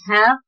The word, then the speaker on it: 他: They sound similar in Mandarin Chinese, but they have different Chinese characters, kanji.